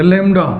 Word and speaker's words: lambda: लैम्डा की spelling भी कुछ लोग कम जानते हैं, लैम्बडा होता है, LAMBDA, लैम्बडा। ये बहुत साइलेंट रहेगा, लैम्डा बोला जाता है इसको।